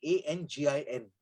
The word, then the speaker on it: angin: they they use is spelled a n g i n. They use it as an angin refers to that inner wind that stirs in your gut.